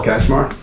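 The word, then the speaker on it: Katchmar: Hi, my name my name is Kashmar. I live on Beartown Road South. Can you spell that for me, please?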